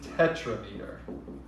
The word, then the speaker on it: tetrameter: If it's 4, it is not quatra, it is tetrameter.